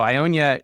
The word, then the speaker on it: Ionia: was particularly inspired by so Ionia uh you said it right by the way most people take a couple stabs to get it you got it right the first time so Ionia is a region that